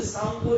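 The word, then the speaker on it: Tsangpo: आसाम से पहले उसे सांगपो रिवर कहते हैं। सांगपो, टी साइलेंट हो जाता है, SANGPO, सांगपो ऐसे बोला जाएगा, लेकिन वो टी साइलेंट हो जाता है, सांगपो river, सांगपो, SANGPO, सांगपो river.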